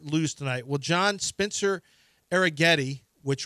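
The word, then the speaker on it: Arrighetti: tonight well John Spencer arag Getti which rhymes with spaghetti is pitching for the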